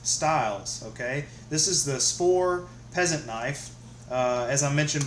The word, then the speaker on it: Svord: different ways I've heard Spore and I've heard it pronounced uh more strongly with the D with the sport but I'll go with Spore it's made in New